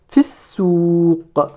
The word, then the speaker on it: في السوق: Ici dans fi, je ne prononce pas le ya. Donc je passe de la lettre fa portant la kasra directement à la prononciation du sin avec sa shadda. Fissouq.